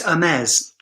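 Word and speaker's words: Hermès: that video answer hermes i say james but i know it's hermes so i i've been i've already been corrected hermes oh gosh perhaps i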